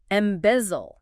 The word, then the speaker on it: embezzle: Embezzle. E-M-B-E-Z-L-E. M-B-E-Z-Z-L. 3 syllables. Stress on the second.